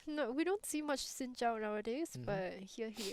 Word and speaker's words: Xin Zhao: different ways to pronounce his name. Xin Zhao is the correct one.